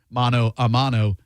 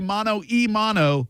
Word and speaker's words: mano a mano: If you say mano e mano, you are saying it wrong. Many people say mano e mano. Okay? That means hand and hand combat. You want mano a mano, like hand-to-hand combat.